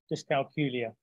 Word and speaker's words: dyscalculia: word so I have a little trick that rhymes with Julia just calculia so that's just a